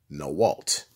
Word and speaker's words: NAWALT: women are like that in a W a l t are pronounced no Walt well pretty self-explanatory would